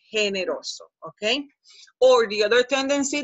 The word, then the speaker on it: generoso: In English filters you, taking you to general or generous, and you would say generoso, and that does not exist. You have to say generoso, okay?